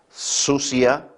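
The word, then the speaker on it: θυσία: La palabra sacrificio, aquí está, sacrificio es el término griego sucia, con D al principio, sucia, acento en la I latina, que significa o se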